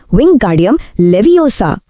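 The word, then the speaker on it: Wingardium Leviosa: रॉन चिढ़कर मंत्र बोलता है विंगार्डियम लेवियोसा। और हरमाइनी उसे फौरन ठीक करती है। अरे लेवियोसा नहीं इसका उच्चारण है विंग गार्डियम लेवियोसा।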